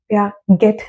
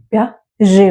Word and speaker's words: Piaget: Gene प्याजे, यहाँ ध्यान रखेंगे जो लास्ट का ये टी है दैट इज साइलेंट। तो जब आप इनका नाम लेंगे आप प्यागेट नहीं प्याजे बोलेंगे। सो it's gene प्याजे।